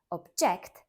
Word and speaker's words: object: the sky but a verb object stressed on the second syllable means to express or